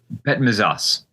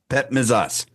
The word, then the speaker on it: Petmezas: Pet misas. Pet misas.